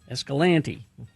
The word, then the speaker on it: Escalante: Ah, uh, Bill, my relatives live in Escalante and say it like you do. Escalante.